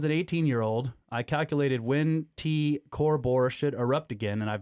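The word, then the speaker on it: T CrB: Recurrent nova, TCRB, which is pronounced T Corbor, is poised on the knife edge of a once-in-a-lifetime explosion.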